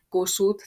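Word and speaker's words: Kossuth: Kossut th a t hang.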